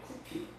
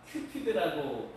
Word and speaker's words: 쿠피도: 근데 이 에로스의 로마식 이름이 쿠피도예요. 쿠피도. 근데 이 쿠피도를 영어식으로 표기를 하다 보니까 큐피드라고 이제 발음하게 되죠.